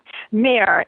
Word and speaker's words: Meir: Meir. M-E-I-R, like Golda Meir.